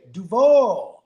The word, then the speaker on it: Duval: They say Duval.